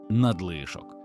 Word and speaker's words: надлишок: Цікаво, що у цьому слові наголос згідно з нормою на другому складі надлишок.